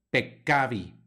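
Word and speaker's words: peccavi: pronuncia en latín aquí tenemos dos letras c juntas pekkabi pecavi hay que hacer el énfasis en en una y otra Aunque es un poco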